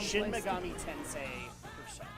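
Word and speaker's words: Shin Megami Tensei Persona: Is it just Is it just Persona on Shin PlayStation? Megami Tensei Persona. That's how it's pronounced.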